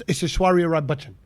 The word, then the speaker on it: Aishwarya Rai Bachchan: It's Aishwarya Rai Bachchan."